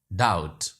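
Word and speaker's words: doubt: right two words वि silent letters के टी एंड B each के नेट नॉट टी हसो lesson B डाउट date day कर्जे को कहते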